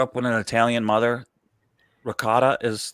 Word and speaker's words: ricotta: My mother would always say, it's not ricotta, it's ricotta. You take the A off the end. Yeah, they take the A off. The A is like, you're not Italian if you pronounce the A.